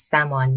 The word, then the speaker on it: salmon: The L is silent, so it's salmon, not salmon.